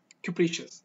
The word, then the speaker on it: capricious: now version of capricious capricious ok that sounded so fast capricious they you shouldn't you shouldn't sound like please she is or capricious okay capricious capricious now let's